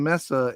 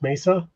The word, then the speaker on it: Mesa: My mom lives in Messa and Skid and she asked if they bark. Lol. Okay, so that's actually pronounced Mesa.